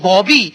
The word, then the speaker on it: बाबी: तो हमारे बहुत सारे लोग मालूम है परवीन बाबी के बारे में वह पेसिफिक परवीन बॉबी लेकिन इनका सही जो उच्चारण होगा वहां भी होगा बिल्कुल ठीक कहा